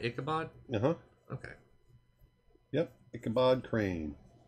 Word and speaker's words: Ichabod: was admiring the complexity of the horse chase ichabod reacting to the horse camera angles changing etc